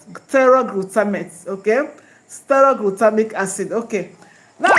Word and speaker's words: pteroylglutamate: Okay, pteroylglutamate. Pteroylglutamate. Okay? Okay. Pteroylglutamate. The pteroylglutamate starts with P. P T E R O Y, then glutamate. The P is silent. Pteroylglutamate.